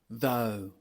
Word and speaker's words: though: Though, though, qui signifie pourtant, cependant. C'est le même son que l'on retrouve dans no.